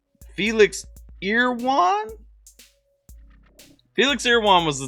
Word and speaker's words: Felix Irwan: told me last time i said it wrong felix ear one felix ear one was the top artist for